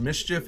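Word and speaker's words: MSCHF: because uh boutique mischief a fashion boutique called mischief it's default so it's spelled m-s-c-h-f i've literally never ever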